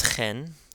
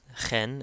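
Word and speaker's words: ϧⲉⲛ: So, this is khen, khen. Again, it has that kh sound. Khen means in. And this is a word that we use often in our hymns, khen.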